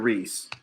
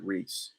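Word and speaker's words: Riis: here yeah okay jacob reese it's spelled our uh the last name of it is spelled r-i-i-s i think i'm saying that right jacob reese but yeah housing complex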